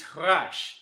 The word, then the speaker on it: Kharash: Pretty sure that's how he pronounced it, because every time we got it wrong, he would say, no, it's Kharash, like this.